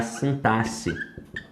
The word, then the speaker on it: sintaxe: E a modalidade que estuda isso daqui é a sintaxe. Sintaxe, tá? Com essa pronúncia mesma, tá? Com som de 2 S's. Não é sintaxe, como muita gente fala aí, não.